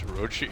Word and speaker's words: Orochi: And she's like, and then Purge just like sighs, like very exasperated, and he's like, "It's Orochi," and then he just looks super disgusted.